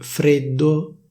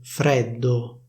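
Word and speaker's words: freddo: Instead of saying /fréddo/, people from Milan say /frèddo/, /frèddo/. Another example is the noun "penna". The standard pronunciation should be /pénna/.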